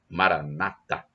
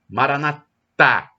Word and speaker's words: Maranata: irmãos em separado e eles dão a tônica na penúltima sílaba na palavra na frase Maranata e os católicos dizem Maranata com a tônica na última sílaba não importa somos todos